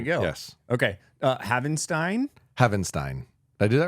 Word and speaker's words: Havenstein: Havenstein. Havenstein. But but yeah, that's right. Um, it's phonetic though. If you fell if you if you spell it out, Havstein gets you there.